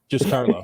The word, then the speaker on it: JustCarlo: So I think we've already talked the ways to get in contact with JustCarlo, and make sure you pronounce his name right, because otherwise he'll tell you. JustCarlo. It's just Carlo.